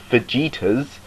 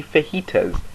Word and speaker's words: fajitas: No one pronounces it fajitas, they just say fajitas. It's a H, not a J. It's spelt with a J, but it's pronounced a H.